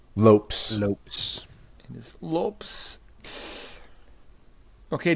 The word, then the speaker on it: Lopes: to the featherweight division I say his name Lopez or Lopes remind me Lopes Lopes in his Lopes